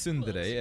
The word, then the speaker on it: tsundere: a tsunder eyes well first of all it's pronounced Sunday and how do we